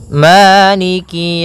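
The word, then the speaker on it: مالك: yaumiddiniki yaumiddin pada bacaaniki di lafal Ma ada hukum tajwid berupa madii yaitu adanya fathah bertemu dengan alif panjangnya dua harakat Maliki kemudian Kaf di sini ada huruf kasrahnya maka sempurnakan kafnya jangan seakan-akan diputus misalnyaikik jadi kemudian kasrahnya juga disempurnakan jangan sampai dibaca dengan E tapi dia iikiikiumin pada lafal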